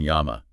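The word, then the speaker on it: llama: the English L but when you double it to LL it transforms into a y sound like in Yama flame yes okay so it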